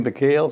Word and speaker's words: Mykal: You know, people call you Mykal, sometimes Mykal. Yeah. How is your name pronounced? It's Mykal, and I was born. Mm-hmm. Mykal is the Arabic word for.